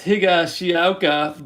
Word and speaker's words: Higashioka: And there is Higashioka. That's Higashioka, Bart. Get it right and try to pronounce the names properly.